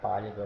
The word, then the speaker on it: pálido: Vamos separar pálido aqui pálido não tem segredo a sílaba que tem o acento É a sílaba tônica ó não é a última nem a penúltima é a anti penúltima oxítona paroxítona proparoxítona então pálido também é proparoxítona pálido a próxima é